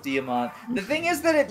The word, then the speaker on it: Diamant: freaking Diamante I'm sorry I call him damante on purpose to piss people off I know it's pronounced damont the thing is that